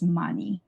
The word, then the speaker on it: 많이: So hyung sound becomes silent when it's in Batchim. So hyung right here. So this hyung is silent. So whenever you have it like this, it will be ken. So 괜찮아. Because this hyung, just consider that it's like not there. It's there when you write it, but it's when you pronounce it, it's silent.